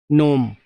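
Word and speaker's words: gnome: कम टू the question number second, नोम. Ji silent है इसमें, जैसे नो में KNOW में होता है, ठीक है.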